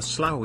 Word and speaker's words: slough: A slough is an area where a river or creek meets a larger body like a swamp that can be made up of a slough. A slough is pronounced slough and it is very similar to a swamp.